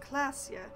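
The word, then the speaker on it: Klaasje: it's pronounced rev shoal orange orana and it's pronounced classia i am not going to remember any of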